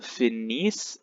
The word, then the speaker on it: finissent: Nous finissons, vous finissez, ils finissent, elles finissent. You have to stop pronouncing before the ENT.